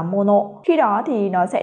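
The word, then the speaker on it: 者: Tuy nhiên, khi đứng một mình thì từ này sẽ được đọc là mono.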